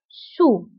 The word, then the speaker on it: sous: وانتبهوا بالنسبة للسو كنكتبوها بأس في آخر الكلمة لكنها لا تنطق sur sous.